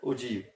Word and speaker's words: ogive: the cumulative frequency, and that we call as ogive. There is a word ogive. It is pronounced as ogive, and actually it has been derived from a word og.